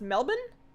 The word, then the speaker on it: Melbourne: but it was also so really spicy it's pronounced Melbourne Melbourne okay do you run any EQ for